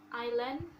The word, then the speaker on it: island: one is letter s the letter s is not pronounced before letter l for example island and i'll the next